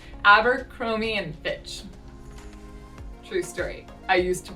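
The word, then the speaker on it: Abercrombie & Fitch: pronounce abercromy and and same thing where we reduce it abercromy and fitch true story i used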